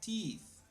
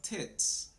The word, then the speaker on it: teeth: women okay and teeth remember teeth is are these okay these are teeth teeth this one here are tits tits if we don't pronounce this well we can make a big mistake okay so that was